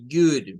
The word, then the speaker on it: good: La primera sílaba se forma de good. Miren. Good. El sonido doble O suena a una especie de U.